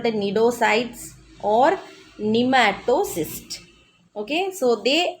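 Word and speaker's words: cnidocytes: Okay, C is silent there, and you have to read it as nidocytes, nidoblast, okay, cnidaria, etc. Understood?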